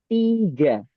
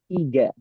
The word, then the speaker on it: tiga: But in Indonesia, we type it as TIGNA, tiga. So if we want to pronounce T, we have to use I, not E, like that.